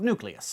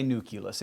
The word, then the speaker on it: nucleus: switch over to nucleus which is after all how it's spelled and that is all